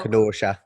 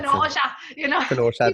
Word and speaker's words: Kenosha: So I am very familiar with Kenosha, Wisconsin, and you pronounced it correctly. So Kenosha, Wisconsin. Kenosha, don't you know?